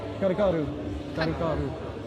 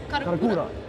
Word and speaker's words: Karakura: Karakaru Am I what? pronouncing that correct? Karu what? Karakaru. Karakura. Karakura.